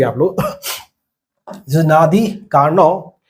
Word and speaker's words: Carnot: This is नादी कार्नोव। हम जानते हैं कि फ्रेंच में डी साइलेंट होता है। And this is what? ये आपके जर्मन फिजिसिस्ट है। नादी कार्नॉट मैं कार्नोट ही बोल